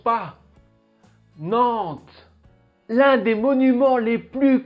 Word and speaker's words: Nantes: and if la sixième plus grande ville fait nantes le f ne se prononcent pas nantes l'un des monuments les plus connus de nantes